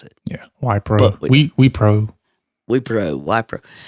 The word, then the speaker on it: Wipro: And it's a company called Wipro. We think that's how you pronounce it. Yeah, Wipro.